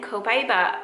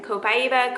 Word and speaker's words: Copaiba: And then Copaiba, people pronounce this different all the time. Copaiba, Copaiba, Copaiba. I think I say Copaiba the most, but anyway, you want to say it.